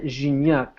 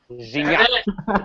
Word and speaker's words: Gignac: André Pierre Gignac. Gignac.